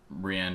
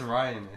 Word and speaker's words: Rian: They should have kept the same director, Rianne Johnson instead. Ryan. Rianne. I thought I thought that's how he pronounced his name. No, it's Ryan, I Is it? It is Ryan, but it's spelled like an idiot.